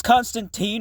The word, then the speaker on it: Constantine: And yes, it's pronounced Constantine. It rhymes with fine. Does Constantine rhyme with fine, motherfucker?